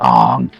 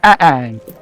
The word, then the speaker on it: Aang: And it's like, it's Ang, not Ong. And it's like, and I used to make the joke back at him, doing a little Key and Peele joke. You're both wrong. It's Ang.